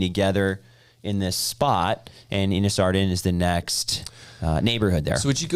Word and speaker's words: Innis Arden: Well, some pronounce it Innis Arden, some pronounce it Innis Arden. It is Innis Arden. Is it I think Innis? if we're trying to be correct.